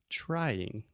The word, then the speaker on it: trying: but is is perfect trying trying yeah so that is a great example of the TR sound in English trying right so you start off with the CH sound just like Chiago right and the same